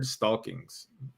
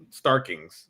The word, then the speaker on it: Starkings: Yeah, Dean White uh was the colorist and the letter was Richard Stalkings. Starkings, sorry.